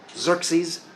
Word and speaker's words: Xerxes: The general Xerxes, great name, spelled with an X. Xerxes.